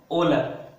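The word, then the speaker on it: Wöhler: उनके जो फादर है उनका नाम है ओला राइट इसमें से ह वर्ड है ह वर्ड वो साइलेंट है राइट ह वर्ड को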